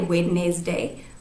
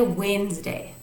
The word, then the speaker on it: Wednesday: we spell it out it looks like with next day with next day but we don't say Whitney's day we say Wednesday so I'm gonna write